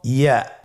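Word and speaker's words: ياء: পরবর্তী হরফটির নাম হলো ইয়া। পরবর্তী হরফটির নাম ইয়া। পরবর্তী হরফটির নাম কি? ইয়া। ইয়া হরফটি উচ্চারণের ক্ষেত্রে বারিক হবে এবং 1 আলিফ টেনে পড়তে হবে।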